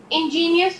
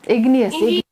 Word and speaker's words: igneous: After cooling the molten magma, it become ingenious rocks. igneous Now beta, convert in not ingenious. Riddhi, let me speak. Igneous, just pronounce it igneous.